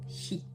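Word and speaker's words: sìth: Son nom provient du gaélique, Kate signifiant chat et Said, prononcé chi, désignant le peuple des fées.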